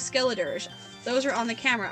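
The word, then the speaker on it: Skeledirge: like 10 times and I never knew how to say his name correctly it is skilletors those are on the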